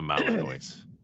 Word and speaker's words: Malinois: It's a Malinois. Like it's like it's Illinois.